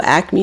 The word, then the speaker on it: Acme: Do you guys have an Acme near you? ACME. In Philly, we call it an Acme. And there's no A. It's only 2 syllables. We add a third.